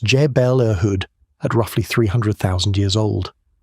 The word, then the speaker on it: Jebel Irhoud: The oldest Homo sapiens fossils we have come from Jebel Irhoud in Morocco, pronounced Jebel Irhoud, at roughly 300,000 years old.